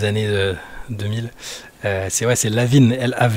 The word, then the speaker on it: LaVine: 2000 c'est vrai c'est Lavine la av V il faut bien prononcer Lavine d'ailleurs comme si comme comme s'il était français c'est un nom d'origine d'origine française Zac Lavine j'avais assisté